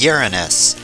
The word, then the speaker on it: Uranus: It's pronounced Uranus.